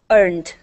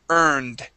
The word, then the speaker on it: earned: And the ED ending on earn. Okay. We say earn. Earned. Good. One more time. Earned. Earned. All right. Here, we want to pronounce a D sound instead of a T.